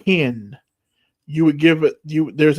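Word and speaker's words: ἕν: So if you see epsilon nu with a rough breathing, you would say it like hen.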